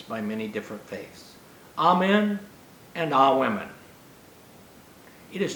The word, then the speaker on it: amen: day in rabbinical school the jewish pronunciation is roughly amen it is not a woman now i have to